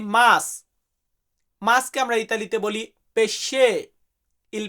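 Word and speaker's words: pesce: গাড়ির ক্ষেত্রে আমরা বলি লাউতো বাট সঠিক গাড়ির উচ্চারণটা হয় আউতো যাই হোক এরপর আছে কি মাছ মাছকে আমরা ইতালিতে বলি পেশে ইল পেশে পেশে মানে মাছ আমরা যে মাছ খাই মাছকে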